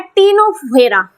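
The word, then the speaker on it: Ctenophora: number पर आता है टीनो फेरा सी इसम साइलेंट रहता है तो इसको बोलते हैं टीनो फोरा ऑलराइट फोर्थ नंबर पर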